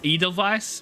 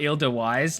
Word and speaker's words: Edelweiss: Not Edelweiss. Look, I did not consider the fact that it was a V pronunciation instead of a W because the words in this game are so difficult and I'm tired.